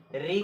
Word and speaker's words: ऋ: री का वर्तमान उच्चारण ऋ का वर्तमान उच्चारण आधा र धन ई बराबर क्या है ऋ होने लगा है होने लगा है देखि रे का वर्तमान उच्चारण आधा र धन ई बराबर ऋ होने लगा है तथा इस तथा इसका उच्चारण तथा इसका उच्चारण तथा इसका उच्चारण करते समय करते समय जिवा मुर्धा को जीवा मूर्धा जीवा मूर्धा को स्पर्श करती है जीवा मुर्धा को स्पर्श